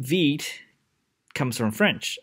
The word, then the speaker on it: Vite: it uh now first thing first the name veed comes from french it's not pronounced vipe it's vt in french and it means rapid quickly and you see why i picked this name uh very soon functionally veet is similar to a pre-configured webpack plus webpack